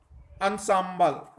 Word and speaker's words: ensemble: Pronunciation जो होगी, हाँ, ENSEMBLE की प्रोनाउंसिएशन जो होगी अंसाम्बल, हाँ अंसाम्बल, इसकी प्रोनाउंसिएशन ही होगी अंसाम्बल, अंसाम्बल, ये इसकी प्रोनाउंसिएशन होगी।